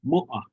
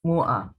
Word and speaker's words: mu'a: Mu'a. Oh, mu'a. Stress on the first syllable.